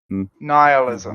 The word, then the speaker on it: nihilism: it my meal is nihilism I listen Island sorry I pronounce that like annihilate you know nihilism sounds better it does it has